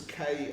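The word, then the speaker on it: krupnikas: It's Krupnikkas. That's how to pronounce it.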